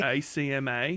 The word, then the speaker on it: ACMA: It's Acme Pro. It's Acme spelled phonetically with an Australian. Okay. ACMA.